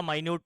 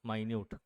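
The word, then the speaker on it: minute: मतलब य होता अच्छा स्पेलिंग वही रहता है जो मिनट का स्पेलिंग होता है माइन्यूट और मिनट का स्पेलिंग सेम रहता है बस वह जहां यूज हो रहा उस हिसाब से आपको प्रोनाउंस करना होता ए टाइम यूज कर रहे तो मिनट बोलेंगे और कहीं पर पार्टिकल के बारे में बात हो रही है तो माइन्यूट इसको बोलते हैं एटम्स क्या बोला हम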